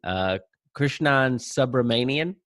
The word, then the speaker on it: Krishnan Subramanian: Today we have with us, and Krishnan, let me know if I'm mispronouncing anything, Krishnan Subramanian.